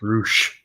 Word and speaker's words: Rush: What I don't get is the guy's name is spelled Rush, R-U-S-H, but they call him Roosh. Roosh.